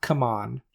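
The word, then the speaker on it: CMON: zombicide that option is available to you right C Mon is happy to oblige I'm sorry not C Mon anymore come on what that's how they prefer it to be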